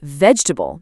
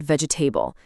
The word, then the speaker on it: vegetable: It's vegetable, not vegetable.